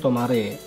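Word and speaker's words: 止まれ: Ini tuh cara bacanya tomare, yang artinya adalah berhenti atau stop.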